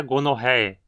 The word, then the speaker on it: gonorrhoeae: Neisseria gonorrhoeae, que causa a gonorreia. Aqui a penúltima sílaba tem o ditongo OE, pronunciado como E, e portanto precisa ter o acento.